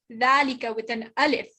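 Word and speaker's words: ذلك: hada valika is pronounced dalika with an alif right but when it's written there's no alif this is the right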